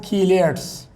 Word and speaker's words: chelate: Such coordination compounds, such coordination complexes are called chelates. Pronunciation chelate.